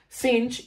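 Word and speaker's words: sinh: cinch and I need to explain that yes cinch is how you pronounce this function okay you basically add a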